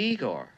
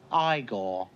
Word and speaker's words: Igor: You must be Igor. No, it's pronounced Igore.